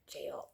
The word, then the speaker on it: gaol: Looks like gallow, but it's jail.